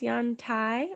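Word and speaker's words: Yantai: meet you ellie billy i believe that's pronounced yon tai i'm not certain where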